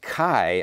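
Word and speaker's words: χ: greek word for christ is x and it's pronounced kai i think that's k-a-i however you pronounce it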